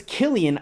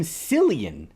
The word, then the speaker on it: Cillian: didn't see that part if I knew his name was Killian I wouldn't have called him Cillian for the past 16